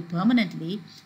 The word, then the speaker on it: permanent: not change you see the word permanent the stress is on per and when you derive another word from it for example permanently this the place of uh that stress does not change it remains on that first syllable that is per so it's permanent